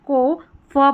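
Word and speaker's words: calf: एफ को फ पड़ा है। और एल जो है वो साइलेंट है। देखिए हाफ काफ बिहाफ और हाफ वे। हाफ वे। सभी में एल साइलेंट है और ए एलएफ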